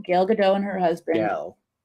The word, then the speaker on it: Gal: Gal. It's not Gail. I'm pretty sure you pronounce it Gail. Really? Yeah. I'm like 99% sure.